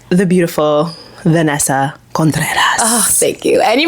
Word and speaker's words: Contreras: social media this year like the beautiful Vanessa conas oh thank you and you pronounced my last name like properly serious contas